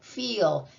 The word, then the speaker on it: feel: The same thing with E and E. The first one does the talking and the second one is silent. So that says E, feel.